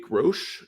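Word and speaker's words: Groce: guys that I see Rodney grosh Jr I think is how you pronounce the name it's g-r-o-c-e he's a Mississippi State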